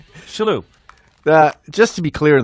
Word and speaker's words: Shillue: Today, we're with a very, very close friend of mine, Tommy Shillue. Tim Sherrod. You're pretending you don't know. It's Shillue. Shillue.